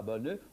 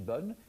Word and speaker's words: bonne: On aura donc bonne qui s'écrit avec un e, mais on ne prononce pas le e. On ne dit pas bonne, on dit bonne.